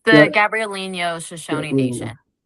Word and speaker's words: Gabrielino: It's the Gabrielino Shoshone Nation.